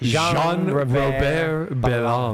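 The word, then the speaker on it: Jean-Robert: His name is a little It's It's Jean Robert Bonde and it's pronounced Sean Rober.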